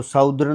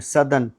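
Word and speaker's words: southern: प्राचीन एंशिएंट दक्षिणी सदन सदन तो साउदर्न नहीं है सदन दवाई मेडिसन मेडिसन जीत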